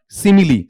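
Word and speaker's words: simile: ठीक है, ये ध्यान रखना, इसका उच्चारण क्या बेटा आपका, सिमिली, से साउंड, ई साउंड, मैं साउंड, ई साउंड, ले साउंड, ई साउंड, इस तरीके से पढ़ा जाएगा।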